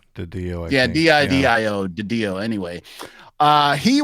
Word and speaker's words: DiDio: Is it Didio? Didio? Didio, yeah, D-I-D-I-O, Didio.